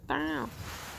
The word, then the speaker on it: Tao: Dow, say Dow properly. Dow. They come from the Dow, you know. Everything does. The turnip represents the Dow. Dow. Yes, that's how you say it. It's Taoist, isn't it? Taoism. Like dowry.